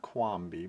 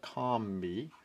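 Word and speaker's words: Qombi: one is the quam Combi not quami but comi um spelled different so you can see there it's a Combi but spelled with a Q the only time I've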